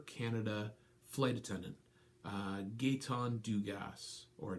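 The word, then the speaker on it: Dugas: flight attendant gate on do gas or Duguay depending on your French pronunciation mine's not awesome okay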